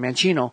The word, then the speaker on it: mancino: my last name mancini mancino and italian manchino means left-handed means well as we